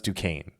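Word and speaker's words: Duquesne: Yes, I know it's Dukane. I know that's how you say it. It's more fun. I'm more than happy to say it that way.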